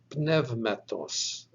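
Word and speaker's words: πνεύματος: sigma on the end so this word is pronounced nevmetos nevmettos means spirit or wind or breath now we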